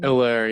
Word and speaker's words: Edwards-Helaire: Edwards hyphen. Hilaire, yeah. The H is silent.